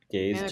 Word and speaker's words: GAIZ: Um, G A I Z is how you spell it. Gaze G.A.I., right?